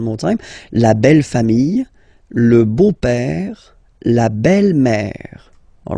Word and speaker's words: beau-père: Le beau-père. So remember this E-A-U combination of vowels only give you the sound O, beau, okay, le beau-père.